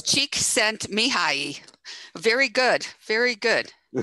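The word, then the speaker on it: Csíkszentmihályi: It's Csikszentmihalyi. Very good. Very good. Csik is an area, scent is saint, and Mihai is Michael. So I did not know that.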